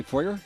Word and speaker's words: foyer: Notice we say foyer, the Americans say foyer?